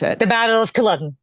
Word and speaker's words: Culloden: I'm not going to try to pronounce it. The Battle of Culloden. Culloden, Yes.